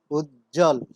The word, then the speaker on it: উজ্জ্বল: যেমন উজ্জ্বল, বর্গীয় জয় জয় যুক্ত আছে, এর সাথে আরো যুক্ত হয়েছে ব, এক্ষেত্রে আমরা ব ধ্বনির কোনো উচ্চারণ দেখতে পাচ্ছি না, শব্দটির উচ্চারণ হচ্ছে উজ্জ্বল।